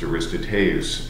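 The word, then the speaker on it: Aristoteles: And then we move on to Aristotle, or as it's actually pronounced, Aristoteus and the Nicomachean Ethics.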